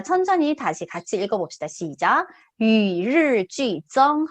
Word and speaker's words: 与日俱增: 아, 발음이 좀 어려워요. 그죠? 자, 천천히 다시 같이 읽어봅시다. 시작. 위르쥐정 한 번 더.